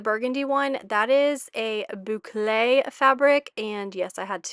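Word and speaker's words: bouclé: that corner the burgundy one that is a boule Fabric and yes I had to uh Google the pronunciation of bouay and it's actually a trending fabric right now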